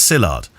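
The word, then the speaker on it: Szilard: love the show this is your friend porcillard pronounced as sillard um just for context it's spelt s-z-i-l-a-r-d from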